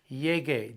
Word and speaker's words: llegue: Llegar, to arrive, llego, change that O to an E, but you have to put the U in there. to maintain the hard G sound. Llegue, G-U-E.